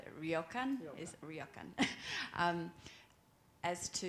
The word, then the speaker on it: ryokan: uh i don't i can't say it properly raya khan ryokan is ryokan um as to you said that